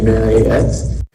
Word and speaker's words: Marriott: It's the same way with Marriott. It is not Elliot. Marriott, it is Elliot. Marriott. And so the correct way to say it is actually Marriott.